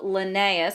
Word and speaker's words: Linnaeus: can classify organisms so here's a picture of linnaeus that's how you pronounce it Linnaeus is famous for coming up